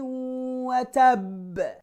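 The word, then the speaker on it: وَتَبَّ: A strong, firm bounce. Tabbat yada abi lahabi wa tab. It's not watabba.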